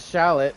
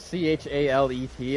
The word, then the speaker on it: chalet: we're going to go back to the makeshift chalet. I was calling it shallot, but it's c h a l e t.